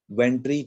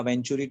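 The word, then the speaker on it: Venturi: वेंट्री tube या वेंचुरी tube बोलते हैं, डिपेंड्स क्या प्रोनाउंसिएशन आप करना चाहो। तो वेंचुरी ट्यूब्स बोलना मुझे थोड़ा ऑकवर्ड लगता है, इसलिए मैं वेंट्री ट्यूब बोलूंगा, आप ले सकते हो वेंचुरी ट्यूब।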